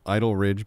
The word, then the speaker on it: Idol Ridge: Clearly not genius level stuff, but is it Idle Ridge because it's in the town of Lodi? So it's spelled backwards.